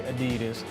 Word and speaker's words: Adidas: I know us Americans say Adidas.